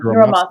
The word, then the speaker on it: Hiromatsu: her grandfather, oh gosh, I always say his name wrong, Hiromatsu. Hiramatsu.